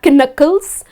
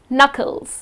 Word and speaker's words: knuckles: your knuckles yes so when you write it you write it with a k but when you pronounce it it's not knuckles it's just knuckles okay the letter k is silent so these are few